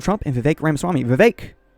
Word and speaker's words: Vivek: and VI Ram Swami VI which rhymes with cake but also with snake think of that what